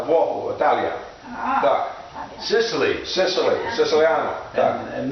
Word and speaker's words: Włoch: Okay, in Polish, Italian, Italy is Włoch, and Włoch, W-O-J-E, and it's pronounced Włoch.